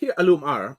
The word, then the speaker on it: Al-Umar: notables and the merchants um because uh zah alumar um and you know my pronunciation is always terrible compared to yours but